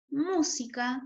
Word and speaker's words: música: A qué palabra corresponde en este caso música como tiene y lleva tilde es fácil de distinguir es una palabra esdrújula porque está tiene tilde en la en la sílaba mu o sea en la ante penúltima sílaba sí acá como bien